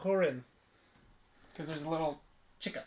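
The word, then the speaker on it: Húrin: It's got a, I forgot how to say it, but Horn. Hearn. You're talking about the Tolkien. I mean, like. Yeah, I forgot what's got that little accent. The Children of Hurin.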